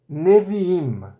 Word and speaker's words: Neviim: Aleph não tem som. Hirik Yud tem som de I. Mem Sofit tem som de M. Portanto, nada mais I mais M, Im. Im. A palavra completa é Neviim.